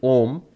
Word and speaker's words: Om: we match them remember the four letters of ohm were revealed as our ooh ma and silence and because I knew together make the Oh so we pronounce it ohm because of that and